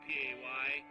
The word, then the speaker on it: Pecos: Pecos. Pecos. Yeah. How would you say it? How would you? I would do Paykiss. I phonetically spell it out. Pecos.